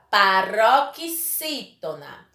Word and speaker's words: paroxítona: Qual foi a sílaba mais forte? Não foi a penúltima? Então, quando for a penúltima, dizemos que essa palavra é paroxítona.